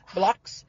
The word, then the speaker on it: Blaux: That's like French, like blow. Blocks.